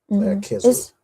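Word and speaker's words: Kislev: The name of the 9th month, you pronounce the CH as a ch? You pronounce it as like a k, like K. well, yeah, like k. Kislu.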